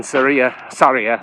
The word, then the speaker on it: Sarria: So the whole point of that is to make you feel guilty for starting in Sarria, is how it's pronounced, instead of starting at the beginning.